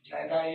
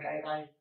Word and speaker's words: gyri: So both correct, gyri or gyri, sulci or sulci, both are correct.